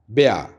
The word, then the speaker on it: Bär: Bear को कहा जाता है रीछ को, भालू को ब्या ब्या एंड it's written like this B ए ऊपर दो डॉट्स होते हैं और आर बट it's pronounced as ब्या एंड इट is considered masculine.